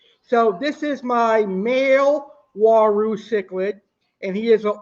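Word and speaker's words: Uaru: are known as the Waru Cichlid. A funny way of pronouncing Waru Cichlid is "who are you?" That could be a way you can remember the pronunciation of Waru Cichlid, "who are you?"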